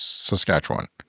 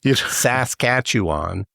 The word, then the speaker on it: Saskatchewan: you how to pronounce saskatch one yeah oh yeah people always for some reason when they're not here it's they emphasize the first two syllables Saskatchewan but really it's just